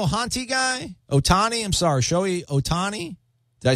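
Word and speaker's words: Shohei Ohtani: this show a honty guy Otani I'm sorry showy Otani I say it right I probably still insane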